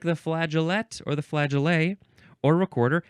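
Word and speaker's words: flageolet: a long time now we have flaget or flag F laa g e o l t uh this is a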